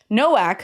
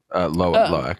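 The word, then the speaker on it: Lo'ak: with Kiri, I feel, that the movie, or Noak, who is the second son who ends up being connected to this whale. Like, I think that's his name. Loak.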